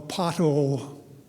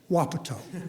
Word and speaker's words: Wapato: they had a windstorm that went through a pothole Washington which is actually pronounced Wapato it's one of those Indian names like koala